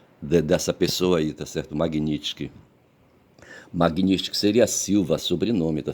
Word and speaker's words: Magnitsky: A Magnitsky, Magnitsky, Magno, para não esquecer a palavra Magnitsky, eu pensei Magno, pronuncio Magni e coloco sticky, Magnitsky, tá certo?